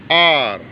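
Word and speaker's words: hour: ऐसे वर्ड जहाँ पर एच साइलेंट है, एच को बोला नहीं जाता, जैसे आर, तो स्टार्टिंग इसकी एच से शुरू हुई लेकिन एच साइलेंट है, तो इसके साथ में हम एन का प्रयोग करेंगे।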